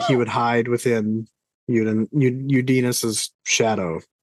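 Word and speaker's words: Uddinas: Udinus. Anytime I see the double vowel, I pronounce them both.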